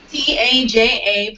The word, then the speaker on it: Taja: Taja, pronounced like Taj Mahal.